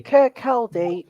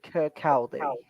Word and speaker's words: Kirkcaldy: Niall says, I support Wraith Rovers from, how do you pronounce that, Tommy? Kirkcaldy, 5 Scotland. Kirkcaldy. Kirkcaldy.